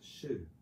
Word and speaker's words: Shu: bit deeper than that that character which we pronounce as Shu means like a example of a behavior a